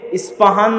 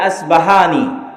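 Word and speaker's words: Isfahan: ইরানের নগরী, আজও ইরানের মধ্যে ইস্পাহান নামে সেই নগরী আছে। আমরা প উচ্চারণ করি ইস্পাহান, আরবিতে এটা উচ্চারণ হয় না, আল আসবাহানি বা উচ্চারণ হয়, ইস্পাহান বা আসবাহানি।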